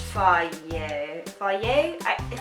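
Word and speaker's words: Fage: It says it's pronounced fier fier.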